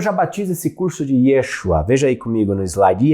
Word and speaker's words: Yeshua: batizo esse curso de Yeshua. Veja aí comigo no slide. Yeshua era a pronúncia no aramaico para o nome de Jesus.